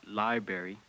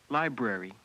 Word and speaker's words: library: library to my list not library library I probably should make